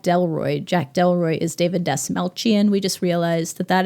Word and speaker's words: Dastmalchian: Jack Delroy is David Desalchian. We just realized that that is how you pronounce his name. Desalian. Yes, Desaltchian. Uh, we were saying the ch like a c, but it's a ch.